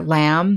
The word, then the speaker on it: lamb: over here we have some words that have a silent b at the end of a word after the letter m such as comb or lamb the animal or a limb which means an arm or a leg so let's talk just practice saying these words and knowing that these all contain a silent b okay next we're